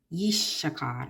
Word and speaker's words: Issachar: Yishshakar is how you pronounce it.